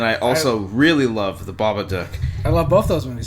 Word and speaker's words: Babadook: I say Babadook. Like as in Duke from Duke, G.I. Joe. or Duke Nukem. Yeah, Duke Nukem. Yeah. You say Babadook. Babadook. Duck. I think that's how they say it.